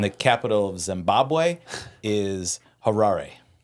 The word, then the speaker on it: Harare: And the capital of Zimbabwe is Harare. Harrari. Did you look up the pronunciation?